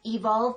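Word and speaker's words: Evolvh: an organic line called evolve and that's like evolve but with an H at the end and the H is silent it's not like evolve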